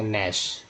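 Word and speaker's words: gnash: एन का उच्चारण करते, तो यहाँ क्या पड़ेगा, नैश। ये क्या, यहाँ भी जी साइलेंट कर दिया, यहाँ क्या पड़ेगा, नेट।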